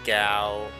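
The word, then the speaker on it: Gau: I spent years mispronouncing names in this game. Narsh is Narshi, Celis is Seals, Ga is Gao over Ga.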